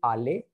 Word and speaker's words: allé: But if I is a female, then I likhoge je suis allé. Same pronunciation. Okay, the pronunciation is allé for both of them.